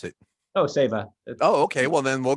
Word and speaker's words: Saiva: how how do you pronounce it most people pronounce it seva and save as just fine how do you pronounce it oh sava oh okay well then we'll go with that